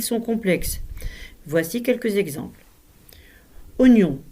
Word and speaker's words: oignon: Oignon se prononce oignon et non oignon ou encore des haricots.